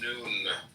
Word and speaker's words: Nun: Comment on none, none pronounced noon, transcribed as and the number 50, meaning fish, the imaginative intelligence.